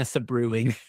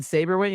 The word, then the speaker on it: Sabrewing: When you haven't seen a show or a movie, I understand now because I called her Lena Sabrewing. And then as soon as somebody said Saberwing, I was like, that makes way more sense.